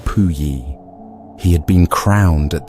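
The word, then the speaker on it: Puyi: The last emperor of China was a child named Pui, pronounced Pui.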